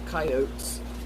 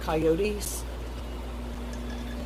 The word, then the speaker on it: coyote: morning because of the coyotes. Carrie told me, I think, was it you, Carrie, that told me I was saying it wrong? It's coyote and not coyotes.